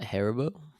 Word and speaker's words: Haribo: a bag of uh what how do you pronounce it harabo yeah Haribo yeah Haribo mix and it had like the